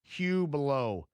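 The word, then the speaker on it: Hublot: Omega, Brightling, Grand Seiko, Hublo. I used to pronounce that name wrong, but I'm accurate now.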